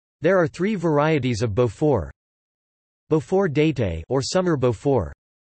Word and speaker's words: Beaufort: Beaufort, French pronunciation, Beau, F, is a firm, raw cow's milk cheese associated with the Gruyère family.